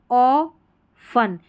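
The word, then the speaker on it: often: अब इसको ऑफ फन पढ़ेंगे। ठीक है? ऑ फन। टी यहां पर साइलेंट है। ऑफन। तो ऑफन में टी साइलेंट हो गया।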